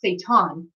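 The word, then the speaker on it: Shaitan: they think that you're satan but even though the word saitan means literally in translation means and it's not even satan it's pretty pronounced saitan is literally the meaning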